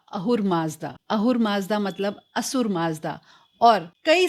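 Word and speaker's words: Ahura Mazda: हम जानते हैं कि परर्शियन लैंग्वेज में एस को एच प्रोनाउंस किया जाता है। कई जगहों पर हर जगह नहीं कई जगह पर स का जो साउंड है उसको ह बोला जाता है।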